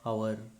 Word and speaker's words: hour: H is silent. For example, HOUR, our, HEIR, air, HONEST, honest, HONOUR, honor, HONORO, RIM, honorarium, HONORARY, honorary, HONOURABLE, honorable.